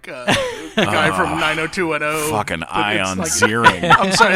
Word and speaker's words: Ian: Fucking Ion Ziering. I'm sorry, it's spelled.